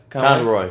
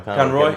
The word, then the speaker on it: Conroy: It's just sort of a seamless transition from Kevin Conroy, Conroy, right? I didn't say it right the first time.